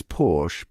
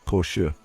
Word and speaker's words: Porsche: Now, you might be tempted to pronounce it as Porsche, but hold on a second. The correct way to say it is Porsche. That's right, it's all about that soft shoe sound at the end. Think of it like saying portion, but with a sure instead of a tyon.